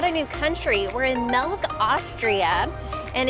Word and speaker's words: Melk: Also, it's Melk, not milk, so it's spelled M-E-L-K.